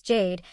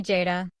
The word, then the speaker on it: Jade: of everyone, even though my name is Jade, which has exactly two letters and one sound, and I genuinely do not understand how someone constructs an alternate pronunciation from that, but Kwame found one.